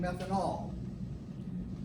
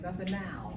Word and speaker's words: methanal: Don't slur that last syllable, because it might sound like you're saying methanol, a more common compound. So if you intend the aldehyde, methanal, I'm going to emphasize that last syllable to make sure.